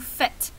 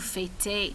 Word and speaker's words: faites: Et la prononciation, c'est vous faites, pas vous fêtez. Non, non, non, vous faites.